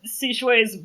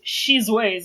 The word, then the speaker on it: Shizways: You did read it Sishways, but the way it's spelled is Shizways, so...